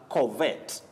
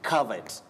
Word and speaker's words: covet: In this word, letter O takes what we call the mid-central sound just like in the word come, C-O-M-E, or some, S-U-M and S-O-M-E. So this letter O takes the sound Covet. Covet. Oh. Not covet. It is covet.